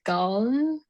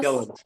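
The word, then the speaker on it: Gullane: And we went to like, I don't know, I probably won't pronounce this correctly, but we went to Guln, like the old clubhouse. Gillen, Yeah.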